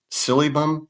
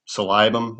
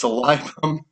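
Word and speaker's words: Silybum: Silibum, which salibum is actually the way you're supposed to pronounce it. Thanks, Doc Jones for ruining that pronunciation for me. He always calls it silibum. No, it's salibum.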